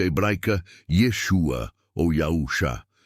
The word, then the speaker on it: Yeshua: XX siga o verdadeiro profeta Jesus ou na pronúncia Hebraica Yeshua ou yausha e não aos falsos profetas da